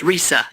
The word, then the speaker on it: RESA: it's I always say it sort of sounds like Teresa because it's Risa Risa saying it wrong